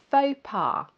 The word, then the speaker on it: faux pas: Faux pas.